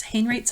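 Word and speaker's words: Haenraets: called Willem Hayne rates Hain rates I think is how maybe how you say it maybe how you say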